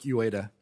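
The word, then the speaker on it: Uyeda: I've got a little crisis of confidence since I've heard 4 or 5 different pronunciations. My name is Jaime Lisaraga. Lisaraga. And mine is Mark Ueda. Ueda.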